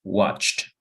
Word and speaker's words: watched: Es primera regla, suena como T, watched.